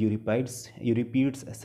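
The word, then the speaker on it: Euripides: एंड यूरिपीड्स, pronunciation different हो सकता है इसका, यूरिपीड्स भी है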